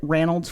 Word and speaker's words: Ranald: On June 27th, 1848, the Plymouth, Ronald's Whaleship, Ranold Whalechip, I'm not going to be able to keep calling him Ranold, just that's the Scottish pronunciation.